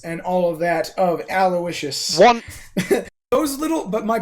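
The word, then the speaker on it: Aloysius: continuous misspelling of aloicious because it is aloicious it is not aloisius it is spelled a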